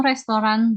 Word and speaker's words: restaurant: So you don't say restaurant, the restaurant. So kata T-nya itu silent ya, jadi tidak kentara saat diucapkan ya.